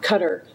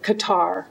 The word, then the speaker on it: Qatar: that but that was to cutter or qatar as americans say q yeah actually but they pronounce it cutter and that was thanks